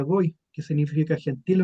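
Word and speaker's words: גוי: Aquí está está escrito con una letra gimel con la vap y una y entonces se pronuncia goy que significa gentil o nación.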